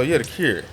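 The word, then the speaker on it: Thakur: So The Cure. The Cure. It's spelled T-H-A-K-U-R.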